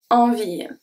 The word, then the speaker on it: envie: So, j'en ai, good, envie. Envie, the last E is not pronounced.